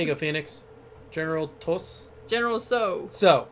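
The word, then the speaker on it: General Tsao: go phoenix general toss general so so i keep forgetting the t is silent oh it has hairy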